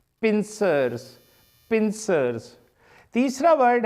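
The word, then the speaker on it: pincers: तो एग्जैक्ट इसकी प्रोनाउंसिएशन है पिंसर्स। एग्जैक्ट वर्ड एस लगा के बनेगा, जिस तरह इधर एस लगाया है इस तरह इधर भी, क्योंकि दो हिस्सों पर है। तो एग्जैक्ट वर्ड है पिंसर्स, पिंसर्स, पिंसर्स।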